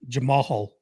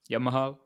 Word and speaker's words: Jamahal: Got to pronounce the H. Jamahal.